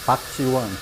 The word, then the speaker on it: Park Ji-won: How to pronounce? His name, Park Ji-won.